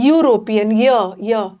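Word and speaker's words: European: यहाँ ई का pronunciation is यूरोपियन, यूरोपियन, YUU, ये क ख ग घ का कॉन्सोनेंट साउंड है, इसलिए अ लगे।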